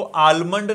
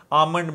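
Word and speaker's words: almond: इसको आलमंड नहीं बोलना, आल एल साइलेंट है, आमंड मिल्क।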